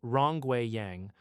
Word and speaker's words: Rongwei Yang: Led by professors Xiaobo Yin, pronounced Xiaobo Yin, and Rongwei Yang, pronounced Rongwei Yang, working alongside Gang Tan at the University of Wyoming.